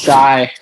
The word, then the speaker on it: Shai: It's actually pronounced Shai.